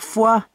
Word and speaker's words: Foix: Mais non, ça ne se prononce pas comme ça, il faut dire foie.